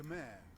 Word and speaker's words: Khmer: the Khmer present you with Oh, so that's how it's pronounced.